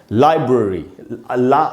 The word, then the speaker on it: library: इसको हमको लाइब्रेरी नहीं बोलना चाहिए, लाइब्रेरी नहीं होगा दोस्तों। सही उच्चारण क्या है? लाइब्रेरी। ला में जो आ है उसी को मैंने अंडरलाइन किया है, वहीं पर स्ट्रेस है, वहीं ज़्यादा टाइम तक रुकना है आपको, इसको आपको पढ़ना चाहिए लाइब्रेरी।